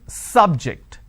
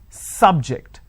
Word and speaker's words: subject: so i say bio biology is an interesting subject i'm i'm stressing on the first syllable okay now i am using another example don't subject the students to any tests so here my stress has moved to the second syllable for example when